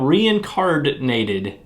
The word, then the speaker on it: Reincardnated: table and check out reincardinated all right meepletown we have reincarnated set up hard you have to i said reincarnate emphasize the d on there no you sound weird